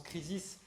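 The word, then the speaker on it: κρίσις: l'étymologie de ce mot en grec crise ça se prononce krisis les krisis ça veut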